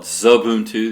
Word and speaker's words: Xubuntu: x of them - but I call it Xubuntu the X's I guess pronounced like an S and this is a